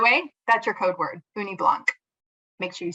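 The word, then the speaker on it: ugni blanc: and by the way that's your code word uni Blanc make sure you spell it right u-g-n-i-b-l-a-n-c all right next slide please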